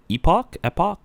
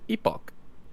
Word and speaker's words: epoch: Visit a historical epoch. Pronunciation is not my strong point. You guys make fun of me, but I think chat told me it was epoch. Epoch, like Ewoks, but epochs.